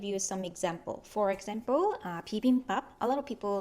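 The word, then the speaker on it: 비빔밥: When you say the first two syllables, 비읍, they are in the initial position. If 비읍 is in the initial position, it will sound similar to English B, like as if it's in bottle, 바, 비빔.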